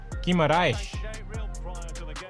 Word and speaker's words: Guimarães: Guimarães.